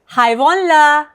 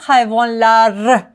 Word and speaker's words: hayvonlar: Hayvonlar. Not hayvonlar. Hayvonlar. R. You don't really hear it.